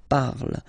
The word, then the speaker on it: parle: ending e, and then the way to pronounce it is je parle, parle. So remember, we put it, okay, but then we don't really pronounce it.